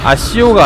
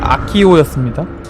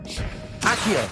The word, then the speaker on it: Accio: 그리고 이 게임을 하면서 느낀 건데 아시오가 아니라 아키오였습니다. 원어민처럼 발음하고 싶으면 아키오라고 발음하세요.